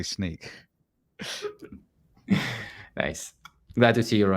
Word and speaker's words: Snyk: you want to say do you want to show them how you pronounce sneak in a bad way I'd say sneak that's seems fine to me although I I have been known to say Snick in the past as well but there